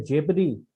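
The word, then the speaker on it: jeopardy: ये वर्ड है जियोपार्डी, पर इसका प्रोनाउंसिएशन होता है जेपरी, तो इसको जियो पार्डी करके लिख लिया।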